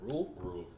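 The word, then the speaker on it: Rhule: How you pronounce it? Rule.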